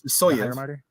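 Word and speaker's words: Sysoyev: I would say it's Sisoyev.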